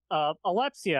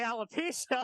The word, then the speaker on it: alopecia: then he said, oh, you have alepecia. I was like, I have what? And it turns out he was trying to say alopecia. Oh. But he mispronounced it.